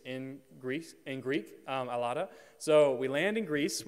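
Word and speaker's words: Ελλάδα: you say Greece in Greece in Greek um alada so we land in Greece with Paul where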